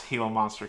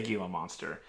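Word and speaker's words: Gila monster: I got as well he also told me how to pronounce Hilo monster correctly because I was definitely going to say gilo monster dbrc chassis Dynamics is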